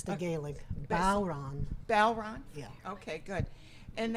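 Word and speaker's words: bodhrán: a bow and a man's name Ron. It's the Gaelic. Bowron.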